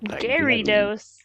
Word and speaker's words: Gyarados: the name of this Pokemon so the official pronunciation is as Gyarados girido somewhat Gyarados and dose Gyarados there are two unexplicable facts